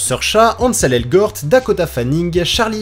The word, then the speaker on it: Saoirse: Niveau naissances, c’est en 1994 que sont nés Saoirse Ronan, parce que oui, ça se prononce "seurcha", Ansel Elgort, Dakota Fanning,